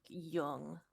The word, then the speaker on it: Jung: Young is pronounced like young. Got it. Yoong. Young. It's never. It's a silent J. Or like a not Yeah. a silent, but We you were get it. pronouncing it Jung the whole time that we played episode 1.